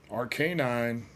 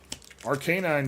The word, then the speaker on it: Arcanine: I realize it's supposed to sound like canine, but just because there's a word inside of the name doesn't mean you have to pronounce the word just like you would otherwise.